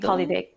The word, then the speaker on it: polyvagal: Polynagal? Polyvagal, polyvagal theory.